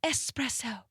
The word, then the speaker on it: espresso: on this one espresso oh no it's espresso thank you Sabrina Carpenter for giving us the song for everybody to understand the right pronunciation of that word so what is the